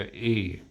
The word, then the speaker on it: y: They go e.